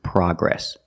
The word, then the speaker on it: progress: The American pronunciation is progress, with the short ah sound, like hot and stop.